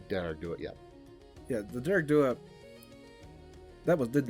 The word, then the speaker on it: Dearg Due: second one, but the second one how'd you pronounce it? The Dearg Due? Dearg Due, yeah.